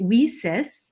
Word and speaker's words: WiCyS: We often go by our acronym WiCyS, and we spell it WiCyS, pronouncing it WiCyS, like we sisters, because that's exactly what we are.